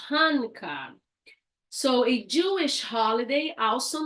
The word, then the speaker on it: Hanukkah: It's pronounced Hanukkah. Hanukkah.